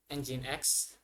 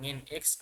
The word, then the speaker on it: nginx: jenis web server yaitu engine X jadi bacanya engine X bukan ngin X atau nging di sini Saya belajar